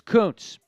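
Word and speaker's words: Kuntz: Koontz nope Zach Koontz it looks like a different pronunciation but it's Koontz uh somebody just asked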